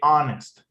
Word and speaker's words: honest: In some of the cases, when we have an H, and the word you don't pronounce it with the H sound, like honest. You say honest, Okay.